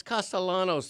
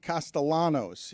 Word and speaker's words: Castellanos: It's not Nick Castellanos. The L always has to be rolled.